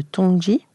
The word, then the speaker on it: Tongji: Depuis 2016, vous êtes directrice du double master franco-chinois à l'École nationale supérieure d'architecture de Versailles et l'université de Tongji, on le prononce ainsi, c'est ça, à Shanghai.